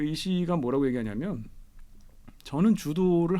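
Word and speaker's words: 柔道: 주도, 일본어 발음으로 주도인데 주도기 때문에 비겁하게 얘기하면 안 돼.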